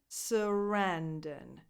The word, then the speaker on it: Sarandon: The stress goes on the second syllable, Sarandon. So the first and the third vowels are just schwa sounds.